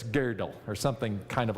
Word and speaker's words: Gödel: know it looks like gödel but it's pronounced like the women's underwear garment from yesteryear like girdle but it's girdle or something kind of